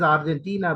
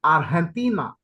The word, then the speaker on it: Argentina: of our English influence for the Spaniard J is a very difficult sound instead they use the H if you I have written the fanatic transcription a a is there then an X is there and an a sound is there so for them in Spanish it is like artina artina or the silver land